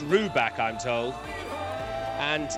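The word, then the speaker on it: Rybak: Now, his surname is pronounced Ruback, I'm told, and it's got everything according to Will in Lewisham.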